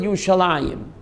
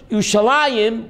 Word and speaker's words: Yerushalayim: I in it's written your solemn and we pronounce it you shall Anjum because the park man in Hebrew you'd man